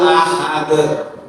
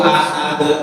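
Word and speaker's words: أحد: Kemudian kesalahan berikutnya memanjangkan ha pada kata ahad. Ini biasanya kalau yasinan yang sering-sering qul huwallahu ahad. Qul huwallahu ahad. Hanya apa? Padahal itu hannya harusnya satu harakat. Qul huwallahu ahad. Ya. Satu harakat. Bukan qul huwallahu ahad. Tidak dipanjangkan.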